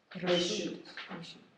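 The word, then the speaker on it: רשות: And how do you pronounce in Hebrew permission again, please? Reshut.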